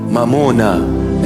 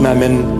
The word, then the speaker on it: Mamona: Mamona in our language. Mamona, mammon. In English, they just translated it, sounding Aramaic, almost Aramaic. It's not mammon, mamona. Come, I teach you the proper pronunciation.